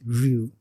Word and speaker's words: Rue: Ru. It's Ru, like Aruyu. The E is not like.